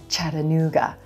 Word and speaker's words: Chattanooga: Chattanooga. There's four syllables in this word, Chattanooga. Our first syllable, we begin with the ch sound, like cheese and chocolate, and the black cat vowel.